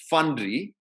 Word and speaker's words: Fandry: For those of you who are interested, I recommend two excellent movies, both available on Netflix, Fundry and Sairat. Fundry is spelled Fandry, and Sairat is spelled Sairat, which do an excellent job of portraying the reality of caste in India today.